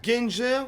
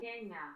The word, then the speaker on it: Gänger: Ganger, ou plutôt Gänger.